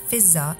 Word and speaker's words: Fizza: in Imam Hussain's camp lady feather commonly pronounced as visa in Farsi and order was the servant of